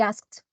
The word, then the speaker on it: asked: We asked, because the ed at the end here after the ka sound, it's voiceless, so we pronounce it as ta. Okay, so we asked.